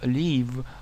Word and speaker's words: leave: Не путать глагол leave, длительный звук, с кратким leave, жить.